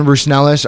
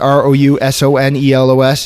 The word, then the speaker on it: Rousonelos: You can reach out to me on Facebook at Rousonelos, Rousonelos. It's that long Greek name that's hard to pronounce.